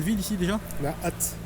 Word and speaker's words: Ath: On a hâte. Hâte. Ça s'écrit ATH. ATH. ATH.